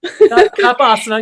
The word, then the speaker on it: Cuppasana: Cuppasana, you got it.